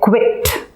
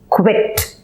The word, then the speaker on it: quit: broken it up so you first say bit try to say bit and then if you put a K in front to get quit so it's quit okay here you will